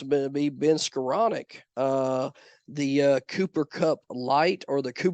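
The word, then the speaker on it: Skowronek: And he spells his name S-K-O-W, by the way, but it's pronounced Skoranek.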